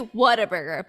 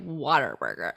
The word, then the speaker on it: Whataburger: It's actually Whataburger, but we say it Waterburger.